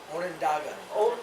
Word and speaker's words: Onondaga: Onondaga.